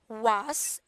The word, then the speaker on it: was: So, usually when we pronounce was, this is not S, okay? This is was. Can you say that? Was. Yes. So a lot of people usually they will say just was. No. We usually Was. yes. So we pronounce this as Z. It will be was.